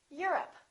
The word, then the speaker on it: Europe: Europe or Europe? I'm from Europe. Don't say I'm from Europe. This is stressed. The O, once again, is reduced. Repeat. Europe.